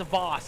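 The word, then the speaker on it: Vosse: Wow, it's pronounced Voss. It's pronounced Voss. Okay, we got that. We got that, Ty. Voss. The E is silent at the end.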